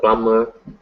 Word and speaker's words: plumber: B in everywhere okay just the plumber plumber um basically if there's a lot of times in English if there's an M or B before each other like this these two combinations the B will be silent um and I'm not